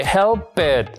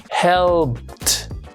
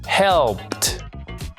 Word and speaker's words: helped: no produce ninguna vibración, por lo tanto, al pronunciarlo en pasado no se dice helpet, sino que le vamos a reemplazar por ese sonido que está ahí. Helped. Helped.